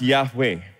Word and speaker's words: Yahweh: So this is pronounced Yahweh.